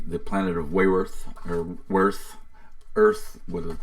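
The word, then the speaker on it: Weyrth: setting it's the the planet of way worth worth earth whether it's spelled funny w ey rth worth Earth's worth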